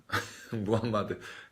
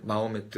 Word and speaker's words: 무함마드: 무함마드. 발음마다 조금씩 다른데 마호메트, 무함마드, 마호메트.